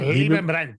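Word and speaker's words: Leibbrandt: It's from the former Swift CEO, Gottfried Liebenbrandt. If I said it right? Liebenbrandt, yeah.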